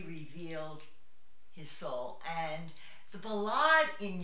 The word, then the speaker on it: ballade: And now Ballade is the equivalent of a ballad in English. It's the French pronunciation.